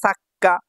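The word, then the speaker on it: サッカー: ছার পরে দেখেন এটা ছোট সু যদি ছোট থাকে পরের বর্ণটা দুইবার উচ্চারণ হয় এটা আমরা পূর্বের ক্লাসে হীরাগানাতে দেখে এসেছি আজকে কাতাগানায় আসলো তাহলে সা পরেরটা হলো কা দুইবার উচ্চারণ হলে কি হবে সাক্কা সাক্কা মানে ফুটবল ঠিক আছে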